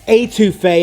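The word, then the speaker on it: étouffée: I think that'd be a great discussion after researching and cooking this crawfish etouffee today. Or etouffee, if I'm going to say it properly to my boys down south.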